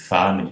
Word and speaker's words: femme: Além de ser pronunciado como A, a sequência ENN, que se é pronunciado como A, ela é oral, porque é seguida de uma consoante nasal. Termina com consoante nasal.